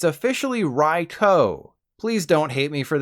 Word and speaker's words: Raikou: This is not Raikou. It's not Raikou either. It's officially Raikou.